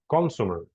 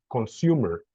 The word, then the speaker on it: consumer: It's not consumer. It doesn't rhyme with customer. Yes, customer, but consumer. This one is more consumer, kind of like this. The consumer, the end consumer.